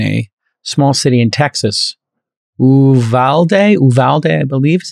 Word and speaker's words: Uvalde: Uvalde, I believe is how it's pronounced. Uvalde, yeah.